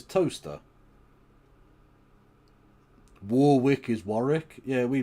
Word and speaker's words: Towcester: And Towcester is Toaster.